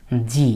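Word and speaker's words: ぢ: যেটা হলো এটা ছিল এরকম চি এর উপরে তেন তেন দিলে হয়ে গেল জি উচ্চারণটা হবে জি তারপরে যু এটা ছিল সু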